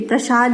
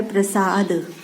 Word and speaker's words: प्रसाद: ये प्रसाद नहीं होता है, होता है प्रसाद।